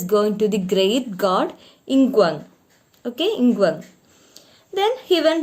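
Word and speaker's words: Nqong: Ingwang. Pronounce it like that.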